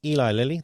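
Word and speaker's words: Eli Lilly: Ellie Liy I think that's Eli Liy Eli Liy that's how you say it.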